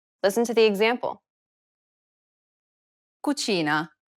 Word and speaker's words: cucina: and i sounds together this sound is identical to the ch in church the only difference though is that it's stressed even more in italian than it is in english listen to the example